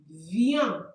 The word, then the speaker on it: viennent: And the last one we have ils or elles viennent. Like this. Please, we don't pronounce the E E N T at the end.